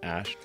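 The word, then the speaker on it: Æ: I mean, it's just X, the letter X, and then the AE is like pronounced Ash.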